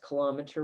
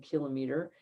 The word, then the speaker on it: kilometer: pronunciation is a little bit different this is pronounced kilometer rather than kilometer and that would be a thousand meters down